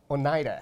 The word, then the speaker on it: Oneida: How do you pronounce it? Is this Oneida? Oneida.